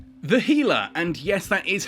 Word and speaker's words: Gila: the Healer and yes that is how it's pronounced it's named after the Gila monster which